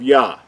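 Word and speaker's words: יה: So going back to the first two letters, we know that the first two letters are pronounced as Yah.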